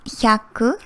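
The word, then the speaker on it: ひゃく: tricky one to pronounce 100 is yaku little bit tricky pronunciation here it changed from yaku to biaku because it's a little bit harder for it's because it's a little bit hard for us to pronounce so it became some biaku okay so random num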